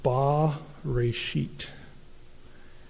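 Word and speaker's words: בראשית: And it would be pronounced ba-reshit.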